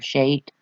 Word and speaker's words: Scheat: It's Scheat, fixed star Shate, we'll call it.